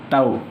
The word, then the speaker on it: tau: We pronounced the symbol of torque is tau.